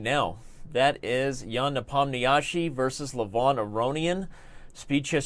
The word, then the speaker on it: Nepomniachtchi: That Nepomniachtchi was perfect. I do my best to try to pronounce things as they should be pronounced, but